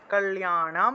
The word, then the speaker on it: কল্যাণম: তারপর একটা হলো 14 নম্বরের কল্যাণম, ঠিক আছে, লয়ের সাথে জফলা থাকায় লিয়া উচ্চারণ আসবে, কল্যাণম, অনুসার থাকায় ম, কল্যাণম বিপুলাম শ্রী, অনুসার থাকলে ম উচ্চারণ।